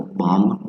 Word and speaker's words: bomb: Some of those consonants that don't sound when you pronounce it, like silent B, for example, bomb, dumb, climb, okay, calm,